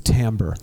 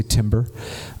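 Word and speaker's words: timbre: the difference between them it's the tamber like it's the same note but but the tambal differences between the two some people say timber um I like the you know the pretentious French pronunciation what they found in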